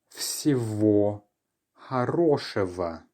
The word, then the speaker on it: всего: The letter G, it turns out, is often changed to more of a V sound when it's in between two vowels.